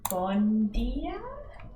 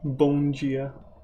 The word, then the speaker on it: Bom dia: It's like bon dia. Bom dia. It's not The D N. pronounced as a G. It's an N. It's a B-O-M. Bong. It's like bong and then gia.